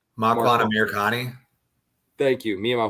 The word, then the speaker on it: Makwan Amirkhani: Mike Grundy's dad was in the stands against Amir Kwani. What's the fool's name? Makwan Amirkhani. Thank you. Me and my horrible name pronunciation.